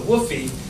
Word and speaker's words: WFOE: venture a little bit more expensive so the woy is the wholly owned foreign Enterprise sometimes it's spelled wfoe or wof but woy is how it's pronounced either way wholly owned foreign Enterprise and